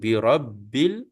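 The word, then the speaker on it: بِرَبِّ: tapi ini Za auu kemudian birabbil birabbil tu dia ada tasdid atas ba seolahah kita pegang dua kali ba l satu ba Mati satu ba baris bawah ya Jadi kita sebut birabbi birabbil alif lam qamariah kita akan zahirkan lam dia tuabbil kita sebut birabbil F alif lam ni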